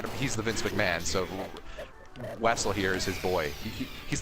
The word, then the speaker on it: Wessel: So Wessel here is his boy. He's the closest he could get to Russian, right? He's pronounced Vessel. He's Ruseving it. he's Ruseving it basically. Rusev Butya.